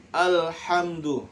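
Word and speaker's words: الحمد: Alhamdu. Nah, bacanya alhamdu, jangan ale. Nah, salah ya. Karena ini bukan ale.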